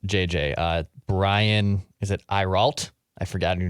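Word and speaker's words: Ayrault: agent that represents JJ uh Brian is it iral I forgot I KN not how to pronounce this guy's last name a a y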